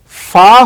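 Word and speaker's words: ف: তাহলে আমরা মনে রাখবো ফা উচ্চারণ করতে যেমন উপরের দুই দাঁত নিচের ঠোঁটের মাঝখানে লাগছে। ফা তারপরে হচ্ছে কফ।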